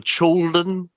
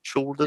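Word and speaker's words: Chaulden: at the i think it's pronounced the children it's like c-h-a-u-l-d-n children yeah yeah community center uh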